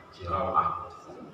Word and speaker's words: Sirawah: Dan Nabi Sirawah, sinnya itu di kasrah, rawnya itu di fathah, siraw, wawan disukun, Sirawah.